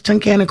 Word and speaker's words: Tunkhannock: So your first challenge is people never know how to either pronounce Tunkhannock or spell Tunkhannock. Yeah. And it's really just sound it out. It's exactly as it sounds.